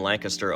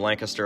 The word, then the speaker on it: Lancaster: come to realize that people in and around Lancaster, Ohio are the only people who pronounce it that way. Everyone else in America says Lancaster which seems to be a more accurate pronunciation but hey, we're just